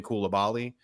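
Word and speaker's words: Coulibaly: professional soccer it's been cool to Bali so who knows uh but the for what it's worth the French are pronouncing it uh collably which is different for me but um uh yeah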